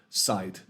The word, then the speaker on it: sight: height height and sight if you didn't have the GH you might put a t on the end there to create that kind of sharp very uh bright sound at the end of the tease there so sight you know it's very bright at the end so that's it that GH has no sound at all um it's just in